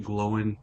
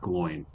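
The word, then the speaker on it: Glóin: So, Corey Olsen and lots of other people believe that it should be pronounced Gloin and not Bloin like they say in the movies.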